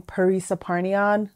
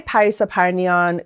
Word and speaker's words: Parisa Parnian: of your pronunciation and here in the U.S most people are more comfortable saying Paris aparnion kind of like pizza parmesan oh but if you can say Paris aparnian go for it that's all I got